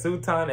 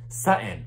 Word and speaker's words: Sutton: then right but because sutan is a woman sutton damn it i said her name wrong but because sutton is